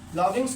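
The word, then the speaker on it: lodgings: लॉगिंग्स की स्पेलिंग है एल ओ डी जी आई एन जी एस लॉगिंग लॉगिंग्स। इसमें D silent रहता है। लॉगिंग्स पढ़ते हैं।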